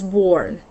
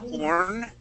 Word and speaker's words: born: When you first pronounced it, that B was sort of hidden, so it sounded more like you said "orn," because that B was so quiet. Just make sure to pronounce that B sound, and that'll come out, and then the word would sound better.